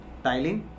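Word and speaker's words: ptyalin: तो salivary glands के अंदर बेटा एक एंजाइम्स होता है जिसे हम बोलते हैं पिटाइलिन, पी साइलेंट होता है, टाइलिन बोलते हैं इसे, टाइलिन या स्लाइवरी अमाइलेज।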